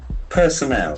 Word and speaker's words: personnel: Personnel. Personnel. We can see that the middle R is said in personnel.